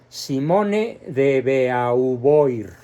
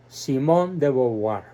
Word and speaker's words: Simone de Beauvoir: pronunciado se le llama Simón de boboa sin La era del final y además considerando que el vocablo e a u en francés se pronuncia o y el vocablo oi